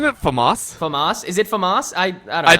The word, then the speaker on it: FAMAS: Is it FAMAS? I don't know. I think it's stress on the second A.